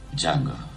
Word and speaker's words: Django: Django. Sai come si scrive? D-J-A-N-G-O. La D è muta.